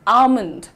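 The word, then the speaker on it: almond: लेकिन आपका प्रोनाउन्सिएशन में एल जो है साइलेंट है। The correct pronunciation is आलमंड।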